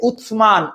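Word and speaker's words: عثمان: যেটা তোমাদেরকে বলতেছিলাম এরাবিকে উসমান উসমান উচ্চারণটা স আর স এর মাঝখানে একটা এরকম একটা উচ্চারণ আছে আসে সো উসমানীয় সাম্রাজ্য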